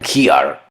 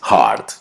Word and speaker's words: heart: La siguiente palabra, heart, que en español significa corazón, la pronuncian heart. Lo correcto es heart.